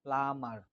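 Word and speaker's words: plumber: তারপর দেখেন প্লামার, here B is silent, প্লামার প্লামার be silent, প্লামার পানির মিস্ত্রি।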